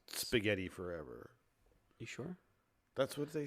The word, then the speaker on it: Spaghetti Forever: say it yeah yeah but i'm told it's pronounced spaghetti forever you sure that's what they say spaghetti it's